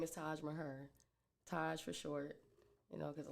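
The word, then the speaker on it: Taj Maher: Like, no, it's Taj Mahar. It's very simple. Like, it's Taj just Mahar. like it's spelled.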